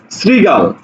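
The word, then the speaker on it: শৃগাল: শ্লোক শ্লোক উচ্চারণ হবে দেখো শ্রীগাল তালব্য স এর সাথে কি আছে ঋকার তাহলে এই জায়গাতে তখন তালব্য সটা দন্তস উচ্চারণ হবে শ্রী গ আকার ল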